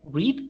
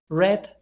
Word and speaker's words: read: is is mentioned or is pronounced like read in present red red in past and in past participle